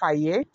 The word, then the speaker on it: Aaye: the forbidden oracle of ay? Yes. The forbidden oracle of a Okay. And that ay is spelled a a ye.